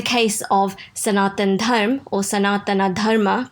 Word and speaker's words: Sanatana Dharma: In the case of Sanatan Dharma or Sanatana Dharma, pronounced in Sanskrit, yoga's origin and framework, the Hindu lineages, which we call our sampradayas.